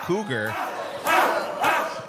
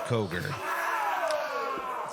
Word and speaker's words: Cogar: The man just called him Cougar. It's COGAR.